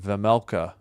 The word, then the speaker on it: Vejmelka: Vejmelka. Yeah, the J is silent. Vejmelka.